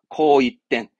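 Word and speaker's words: 紅一点: 코이땐, 코이땐 합니다. 코이땐, 홍일점. 홍색이네요. 하지만 여러분 이때는 일본에서는 이거를 붉은색이다 그럽니다.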